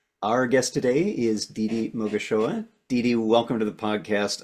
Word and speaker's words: Mogashoa: And yeah, I love how you pronounce my surname almost just there. And yeah, it's heartwarming. So I am Didi Mogashoa, and I'm very happy to be here.